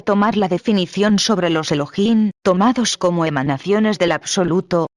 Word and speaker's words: Elohim: La H tiene sonido, se pronuncia como J, de manera que su pronunciación exacta es Elohim.